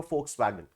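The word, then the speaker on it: Volkswagen: याद कर सकते हो फॉक्सवैगन ठीक है आई नो इसको वुल्फ वेगन लिखते हैं इट्स रिटर्न एक this walls vegan volt vegan लिखी जाती है बट इट्स प्रोनाउंस है ठीक है दोस्तों फॉक्सवैगन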